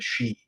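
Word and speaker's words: sidhe: for the fairy and we call them the she and which is spelled s-i-d-h-e the she yeah um but and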